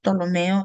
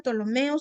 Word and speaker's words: Ptolomeo: los 4 solo 2, Ptolomeo y Seleuco, aunque se escribe con una P, pero pues ¿cómo vamos a decir Ptolomeo? Pues no, ¿verdad?